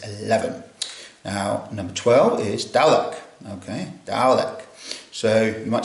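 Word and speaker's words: dewdhek: Now, number 12 is dalek.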